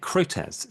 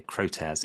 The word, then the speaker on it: Crotez: say your last name I say it croz croz it's originally a French